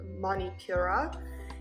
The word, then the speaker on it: Manipura: it's called the solar plexus chakra in sanskrit pronounced manipura and when the chakra is in harmony we